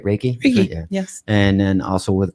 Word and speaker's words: Reiki: I pronounce it wrong. Is that right? Reiki? Reiki.